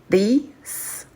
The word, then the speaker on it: these: Au pluriel, c'est these, these. Donc là, on prononce avec un i long. C'est ça la différence entre this and these.